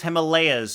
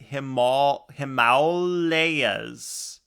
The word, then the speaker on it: Himalayas: Like mauled by a bear. Himalaya. Cool. Thanks, Blue. Himalaya. Himalayas? Himalayas.